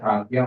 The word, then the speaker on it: Ajna: And then Agya chakra, it is spelled as Ajna. Okay. Agya chakra, so it is like Agya only.